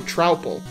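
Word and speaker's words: Troupple: Pronounced like mouthful. So, Trowple.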